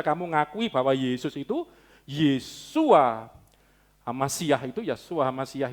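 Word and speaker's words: ישוע: Indonesia tulisannya bacanya Wah kalau aslinya waktu itu kan Bahasa Arab Bahasa apa ke Ibrani Iya sua-sua gitu ya suara lengkapnya yeshua hamashiach Yesus Kristus itu besarnya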